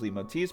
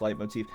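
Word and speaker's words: leitmotif: I just know fun trivia learn from someone trying to sniff out characters leave motifs. Pronounced light motif.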